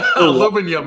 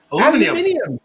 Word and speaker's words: aluminium: Aluminium. You're missing an I. Wait. Aluminium. What did you just say? What the fuck did you just say? There's an I in there. You guys don't say the I.